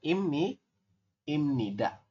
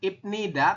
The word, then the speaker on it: 입니다: Bukan ibnida, tapi dibacanya adalah imnida.